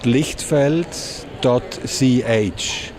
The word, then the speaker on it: Lichtfeld: It's called lichtfeld.ch. How can I pronounce?